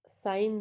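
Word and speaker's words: sign: तो साइन तो ये जो g है ये साइन g नहीं आता। जी साइलेंट है तो ये जी नहीं बनके ये सिर्फ जी और एन मिक्स हो के साइन हो जाता है।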